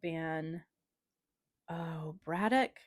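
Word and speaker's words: Ban Breathnach: She being Sarah Ban Braddock. I've looked up the way to pronounce her last name. It's different than how it's spelled.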